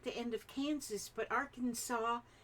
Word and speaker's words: Arkansas: end of Kansas but Arkansas is is spiled like Kansas but with an arc in the front and you don't say the S I don't understand what's